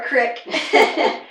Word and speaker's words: creek: With our creek or crick, we had crawdads, so we would go crawdad catching.